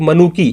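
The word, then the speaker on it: Manucci: इनमें से कई यात्री जैसे इतालवी चिकित्सक मनुकी, या जिसको मैंने मनुची लिखा है क्योंकि उच्चारण इटालियन में मनुची होता है, मैं हर लैंग्वेज का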